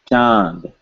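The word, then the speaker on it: चाँद: If I am pronouncing this word, Chand, Chand, Chand, I hear an N, Chand, Chand.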